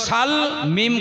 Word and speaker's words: সালমা: সালমা জোরে বলেন নাম কি সিন লাম জবর সাল মিম খড়া জবর মা কি হল উচ্চারণ সালমা।